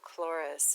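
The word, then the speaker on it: Chloris: a continuation in that article they talk about clorus it's spelled c-h-l-o-r-i-s as being the greek goddess of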